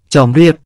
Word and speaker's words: ជំរាប: ในภาษาสันสกฤตและบาลี ส่วนคำว่า ชำราบ มาจากภาษาขอม ถ้าออกเสียงตามภาษาขอม จะออกเสียงว่า จ็อมเรียบ คำว่า จอมเรียบ มาจากคำว่า เจฺรียบ